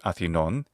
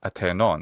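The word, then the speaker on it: Ἀθηνῶν: He doesn't use the modern Greek pronunciation, which would be athinon. He says atenon, but it should be atenon, atenon.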